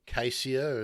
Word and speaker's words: caesia: We've got the eucalyptus caesia, or cassia, as it's generally commonly pronounced.